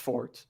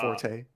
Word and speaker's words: forte: not their fort which it's pronounced fort not forte oh it's not fast